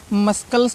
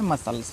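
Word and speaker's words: muscle: हैं स्कैंस ठीक है साइंस पढ़ना है फिर मस्कल पढ़ते हैं मस्कल इसको मस्कल नहीं पना है इसको पढ़ना है मसल्स फिर सीजर्स एस सी सी आया है ना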